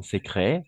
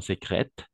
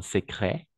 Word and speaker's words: secret: En effet, ils se sont remariés en secret, pas en secrète, en secret, tout simplement. Le T à la fin, on ne prononce pas.